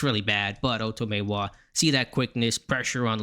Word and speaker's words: Otomewo: and Tony Romo did not know how to pronounce his name but Oto Maywa his name Asesei the first name bigo as